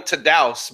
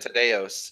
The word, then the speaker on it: Tadeos: guys in the league, Tados, I believe is how you pronounce it. Tadeos. Tadeos. I always called him Tadeus, but I think he does it Tadeos.